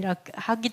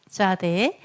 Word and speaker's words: Tzadi: 차디 , 90 번 , 'ch' 소리 또는 'TS' 소리 , 차디 . 이렇게 Tsade, Tsade 또는 ... 저 는 'Tza' 발음 이 더 쉽다 고 생각 해 요 .